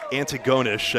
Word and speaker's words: Antigonish: pette tell us we got the wrong uh Antigonish I believe is the correct pronunciation of what we were trying to say